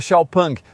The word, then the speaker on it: XPeng: XPEN se escreve assim, mas se pronuncia XPK.